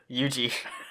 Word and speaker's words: Yuji: no taijo no taiju no what is it yuji i knew it was two syllables sure that wow jim all right so